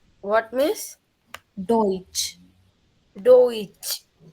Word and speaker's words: Deutsch: German language, we say it Deutsch. What, miss? Deutsch. Deutsch. Correct.